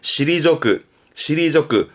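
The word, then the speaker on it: 退く: 발음은 시리조크 말 그대로 물러나다.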